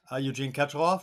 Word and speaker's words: Eugene Katchalov: Today we've got Eugene Katchalov. Am I pronouncing your name correctly, Eugene?